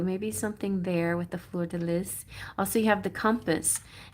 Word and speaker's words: fleur de lis: This is the fleur de lis, and that's how you pronounce it, because I researched it and people have told me 1,000 times that's how you pronounce it.